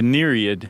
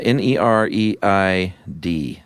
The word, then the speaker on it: Nereid: The Nereid. Yes. I think I'm pronouncing that correctly. Yeah, Nereid. That EI is a tough transition. It is. Because you want to say, like, Nereid. Yeah. Or Nereid.